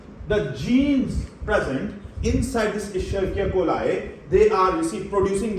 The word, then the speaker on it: Escherichia coli: Now some people, they pronounce it as Escherichia coli. Wrong pronunciation, right? Correct pronunciation is Escherichia coli, right?